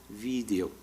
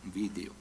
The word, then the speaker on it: video: Empiezan a decir video, y de ahí ocurre pues que acaben teniendo una pronunciación consonántica, y que en esta